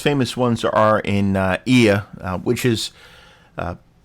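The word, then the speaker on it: Oia: The most famous ones are in uh IA which is uh pronounced IA spelled O I A.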